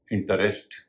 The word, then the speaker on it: interest: तो हो जाएगा इंटरेस्ट लेकिन इसका सही उच्चरण इंटरेस्ट नहीं होता इसको बोला जाता है इंटरेस्ट या इंटरेस्ट कहीं कहीं इंटरेस्ट भी बोला जाता है यानी आरई एसटी का उच्चारण यहां पर रेस्ट ना होकर रस्ट हो रहा है अगर आपकी रुचि हो